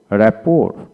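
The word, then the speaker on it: rapport: call বাফিট তারপর আসেন রেপোর রেপোর টি উচ্চারিত হবে না তারপর আসেন এই ক্লা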